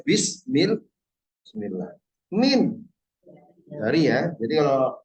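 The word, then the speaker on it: بسم الله: Kalau bi ismillah dengan nama Allah, tapi kita cara bacanya bismillah.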